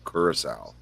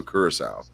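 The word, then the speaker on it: Curaçao: Liquor Blue is blue curacao you probably see it as Curacao but it's not how it's pronounced but that is actually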